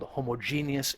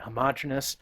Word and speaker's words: homogeneous: mixtures by the way I've heard it called homog genus and homogeneous I tend to pronounce it as homogeneous I think either one is fine so homogeneous mixtures and